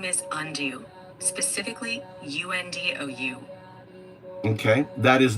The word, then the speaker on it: UnDaoDu: undo or undoubted considering the wind's impact on pronunciation. So undo is not my name. That is the wind. Undou however is my name and that is you.